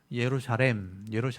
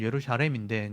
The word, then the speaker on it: 예루살렘: 예루살렘. 원래 발음은 예루살렘인데 이제 이걸 발음하기 어려우니까 예루살렘이라고 하죠.